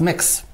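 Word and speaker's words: Mx: M X I pronounced mix pronounce mix mix oh and that is so I would be mixed Murphy a mixed nick memory rather than mr.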